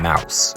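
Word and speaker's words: Maus: was published it's called the map it's called mouse okay and it's spelled m-a-u-s okay uh about the how the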